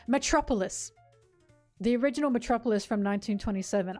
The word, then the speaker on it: Metropolis: Metropolitis? What the fuck? Metropolitan is what I was saying. Metropolis.